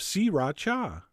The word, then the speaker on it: sriracha: going to add the same amount of si ra cha which is how i've been told to pronounce it three distinct syllables si raucha although you know what that sounds kind of weird i'm going back to sriracha and then besides the